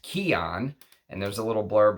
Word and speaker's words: C'i'aan: right there C apostrophe I apostrophe a-a-n it's pronounced Keon and there's a little blurb about it and